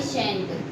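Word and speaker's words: shan't: आई शैल नॉट को आई शैंट भी पढ़ सकते हो आप इसे शांट भी पढ़ सकते हो। Both are the correct pronunciation, because British और अमेरिकन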